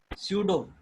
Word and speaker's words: pseudo: Pseudo, Pseudo. This is pronounced as pseudo. The P is silent.